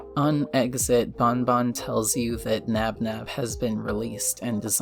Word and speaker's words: Nabnab: calm him down it's also shown that nabnab is the correct pronunciation which is a relief